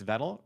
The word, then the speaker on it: Vettel: Your nominees are Analytical Scorching, Perfect Paradise, Creepy Crawlies in Your Closet, It's Vettel, rhymes with pedal and metal, Pest, White Noise, The 987 Household, To Hear Your Voice, and To My Creator from the Future.